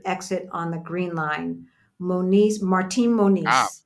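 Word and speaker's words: Martim Moniz: again so my my so my my tutor she was pronouncing something that had an m at the end right and I did not see her lips close to form the M sound okay Martin Moniz I'm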